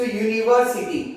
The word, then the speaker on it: university: So here you should take care of this thing, that spell starts with U, that is vowel, but when we pronounce the word, जब हम बोलते हैं तब वो शुरू होता है consonant, that is Y.